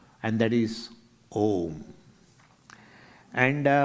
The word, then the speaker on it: Om: Phonetically, it is a universal sound consisting of three sounds: A, U, and Ma.